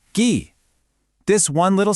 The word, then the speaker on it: 기: Just adding ghee, pronounced ghee.